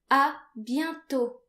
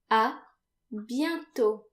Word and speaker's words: à bientôt: If you plan on seeing that person again, you can say à bientôt. À bientôt. This means see you soon. À bientôt. And again notice that the final T is silent.